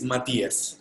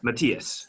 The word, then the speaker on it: Mathias: How do you pronounce your name? Actually, it's Mathias. Mathias. Okay, yes. Got it. So I'm here with Mathias from PedidosYa, and really excited to talk some